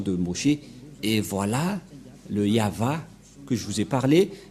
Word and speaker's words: Yahvah: vav et he et la prononciation de ceci c'est yava voilà la prononciation de ce